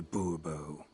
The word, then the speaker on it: Bourbon: monsieur de bobo fine monsieur de bourbon the emphasis falls on the last syllable bobo see now i'd